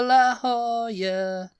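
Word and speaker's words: La Jolla: Beach Boys all over La Hoya La Hoya yeah it would really be La yeah l in Spanish is y it's a y sound so la Hoya yeah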